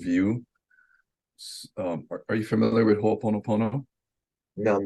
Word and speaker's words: Ho'oponopono: Are you familiar with Ho'oponopono?